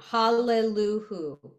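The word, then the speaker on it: הללויה: But it's actually, sorry, I'm wrong. Hallelujah. Hall goes together.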